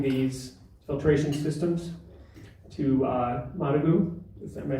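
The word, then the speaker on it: Managua: clubs is providing these filtration systems to uh managu is that by saying it correctly yes yes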